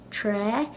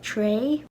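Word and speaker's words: trá: So I think some people in Ulster will pronounce this tra, and some will pronounce it tray. Now, in Connacht, this will be pronounced troll. In Munster, if they were to pronounce this the standard spelling, they would also say traw, I believe.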